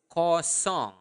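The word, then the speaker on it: kosong: say zero zero is coong okay in basa say it again repeat it up to me coong uh make sure that you are pronouncing the Nal sound there Co song song like a song okay so Co okay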